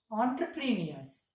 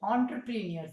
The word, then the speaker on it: entrepreneurs: Actually, entrepreneurs should be pronounced entrepreneurs. It is a French word, entrepreneurs it is.